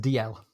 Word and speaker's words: Dalziel: I don't know about intelligence, but it's a name that I would have pronounced DL.